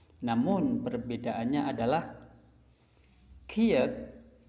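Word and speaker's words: 키읔: Jadi dua konsonan ini sama-sama untuk simbol bunyi huruf K, namun perbedaannya adalah Kiek atau bunyi huruf K, namun di dalam pelafalannya disertai angin yang merabas keluar.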